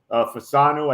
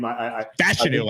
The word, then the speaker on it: Fashanu: in the first round, which Fasanu, I guess that's how you say his name. Fashanu, I think it's actually. How you say it? Fashanu. Fashanu, yep.